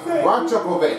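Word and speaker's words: Rajaković: If you don't know how to pronounce the name, try to make sure you have that one right. Yeah, it's definitely Rajakovic.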